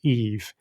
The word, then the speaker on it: EV: The fact that she's called Eevee 999, and it specifically says pronounced Eve, which is obviously, you know, the first woman, so she's like this boss.